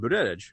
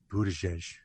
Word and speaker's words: Buttigieg: as a witness and Buttigieg. I'm sorry, Buttigieg. since apparently I pronounce it too hardly for some people, Michael Graham.